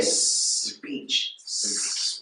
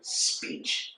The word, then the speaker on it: speech: the shipment yes Peach it's really just one syllable one sound so the first two have to be kind of combined speech you don't want to say speech that makes two syllables so do speech speech